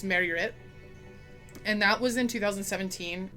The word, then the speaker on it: Myrkur: So Myrkur, the pronunciation in Danish is wrong. I listened to it several times on Google to try and figure it out, but in essence it's just Myrkur.